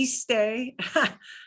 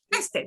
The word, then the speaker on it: este: Not Okay. iste, Mhm. not este, you know, este. Este. Okay. Este.